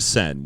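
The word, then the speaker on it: Seine: initiative to clean out the sen which I believe is how you pronounce the river that's in Paris and even like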